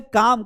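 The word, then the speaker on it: calm: है यहां लिखा है काम काम मतलब होता है शांति यहां पर भी ए के बाद एल आ रहा है इसलिए ये एल साइलेंट है टॉक टॉक याने बात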